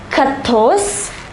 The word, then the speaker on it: quatorze: 11 is onze, douze, treize, quatorze and quinze.